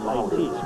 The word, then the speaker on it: Itis: And the players in the stop was Itis Atkinson. It looks like that. It's pronounced Itis.